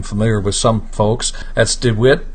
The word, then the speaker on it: DeWet: not a name familiar with some folks that's dwit D toy and it's spelled D E W T du t o